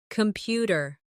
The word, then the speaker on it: computer: Computer. The stress is on the second syllable.